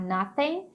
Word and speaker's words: nothing: Aqui você não precisa pronunciar o G, tá? Então você pode falar nothing, para ali meio que no N. Dependendo da região, tem gente que marca o G, mas você pode não marcar, fica mais fácil.